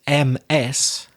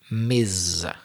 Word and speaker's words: Ms: It's written as M-S and it's pronounced Ms. I'm exaggerating the vibrating sound, the Z, like a B, Ms.